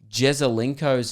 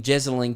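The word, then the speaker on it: Jesaulenko: __ ] conversation where a girl was pronouncing jezelinko's name wrong there's an old afl footballer who's quite famous for taking a big specky uh i think his name's alex jezelinko right she was calling him jessalyn key jessalyn carr uh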